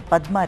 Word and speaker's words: Padma: Unlike in any other country, I think, save Bangladesh, where the Padma River, or as it is pronounced, Padda River, which is really looked up to because it gives them food and sustenance.